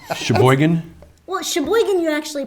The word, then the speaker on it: Sheboygan: Well, Sheboygan, you actually pronounce everything.